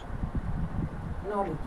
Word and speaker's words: knowledge: The pronunciation of, the pronunciation of D G E becomes J, okay. या इस तरह से कह सकते हैं ज, ओके, ज। Example, नॉलेज, नॉलेज, okay, नॉलेज। Breach, breach, नॉलेज, knowledge, breach, okay.